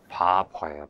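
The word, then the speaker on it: Barbour: 사람, 네 번째 학자는 바버예요. 바버. 이게 이발사란도 될 수 있고, 어떻게 한국말로 하면 이게 잘못 발음하면 바보가 되는데, 바버.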